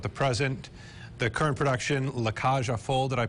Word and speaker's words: La Cage aux Folles: The current production, La Cage aux Folles, did I pronounce that correctly?